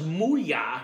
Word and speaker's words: MooYah: But yeah, so this was MooYah.